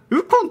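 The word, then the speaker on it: 鬱金: ほしいこれ答えれる人ウコンって読むんだ知らんなウコン確かにうつのウに金でウコンかなるほどなるほどねわから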